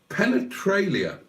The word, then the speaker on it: penetralia: Penetralia is a 5-syllable word, apparently, says Black Lions.